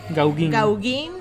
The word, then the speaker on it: Gauguin: O sea, se escribe Gauguin. Se pronuncia Gauguin.